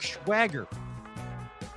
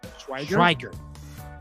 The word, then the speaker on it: Schweiger: Now, the winner, our Box of Fun, Schwager. Schwager? Schwager? Am I saying it right? Is there 2 G's or 1 G? Well, it's IEGGER. Schweiger?